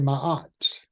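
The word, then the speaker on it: Ma'at: of years it was a principle called Maya some say my art m a apostrophe a t my art is righteousness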